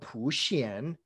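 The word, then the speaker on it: 普贤: the significance of samantabhadra he's called pushyan in chinese which is just the pronunciation of the characters that mean universal worthy this is a very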